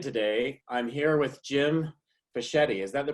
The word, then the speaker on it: Fischetti: I'm here with Jim Fischetti. Is that the correct pronunciation, Jim?